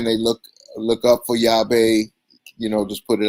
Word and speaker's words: Yave: easy and of course yahweh means ki in spanish but i spelled it phonetically so the whole world could say it and yatu yava yathu